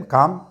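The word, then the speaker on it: calm: कालम काम इसको पढ़ेंगे सी ए एल एम काम एल साइलेंट रहता है काम का मतलब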